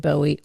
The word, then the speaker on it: Bowie: Wow Bow how do you say what who bowie dude Bowie okay David Bowie China girl good